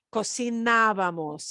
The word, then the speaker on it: cocinábamos: de una persona, cocinábamos, and the ábamos gets an accent mark because we are stressing a syllable that is a kind of a rule breaker syllable. We're not doing the second to last. We're punching the third to the last syllable. So, ábamos.